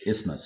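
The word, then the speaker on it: isthmus: is because it's it looks like is but it's ismas.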